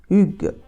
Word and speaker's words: hygge: Et je suis tombée sur une vidéo d'un acteur danois qui donc dit qu'en français, on doit dire Hugues.